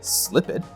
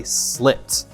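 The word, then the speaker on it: slipped: So, I know we don't say "slip-ped." Now I'm going to check to see if it has a final voiced or unvoiced sound. Using my hand, I'll say the word again. Slip. Nope. No vibration. It has a final unvoiced sound and I say "slipt."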